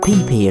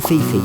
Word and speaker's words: Phi Phi: to forgive my pronunciation it's actually said PPR not Fifi I didn't realize that at the time the peepee Islands are about 20